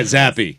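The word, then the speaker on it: Zappe: was that guy playing quarterback for the Patriots zappy is that is that how it's pronounced yeah zappy yes yes I thought it was Hoyer what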